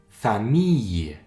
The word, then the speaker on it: famille: cette fois-ci font le son par exemple famille encore on ne prononce pas le l ça fait le sang